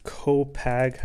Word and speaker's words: Copag: today we're unboxing these co-pack i think that's how you pronounce it poker cards so these